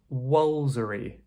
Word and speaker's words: Woolfardisworthy: This one is pronounced "Wolsery" Woolfardisworthy. Yeah, this is the craziest one perhaps right - Woolfardisworthy. We're just skipping out a lot of the middle part.